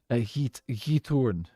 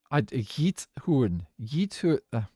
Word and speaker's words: Giethoorn: It's called Giethoorn. Giethoorn. I'm still not 100% sure about all the pronunciations of Dutch.